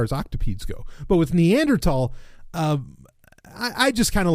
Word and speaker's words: Neanderthal: Just like I made the correction for most people that, look, it's Neanderthal, not Neanderthal. Generally I don't care how people mispronounce things.